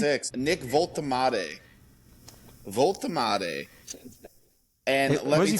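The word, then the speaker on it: Woltemade: How do you pronounce his name? 6'6", Nick Voltemade.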